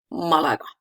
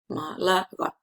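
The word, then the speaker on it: Málaga: stress is irregular, it can be on any syllable and we need to mark it with the accent mark. For example, Malaga.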